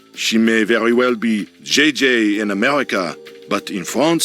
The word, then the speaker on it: JJ: jj ling you mean jiji ling no i mean jj gigi jj on francais you pronounce g like j and j like g she may very well be jj in america but in